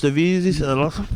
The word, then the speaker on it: MRVZ: But yeah, that's how it's pronounced, Mrvz. The whole reason why I took the A out was because there were so many other artists out there that was named Mrvz but with the A.